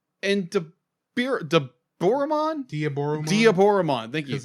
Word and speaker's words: Diaboromon: fight between omnimon and be de Boran diaboromon diaboromon thank you because it's going to be the Japanese vers pronunciation of Diablo so dioro diaboromon like now